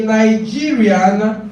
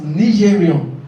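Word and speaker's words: Nigerien: And the pronunciation is not Nigeria. It's pronounced as Nigerian. It's a French word. Nigerian. The E gives you O, right? In French.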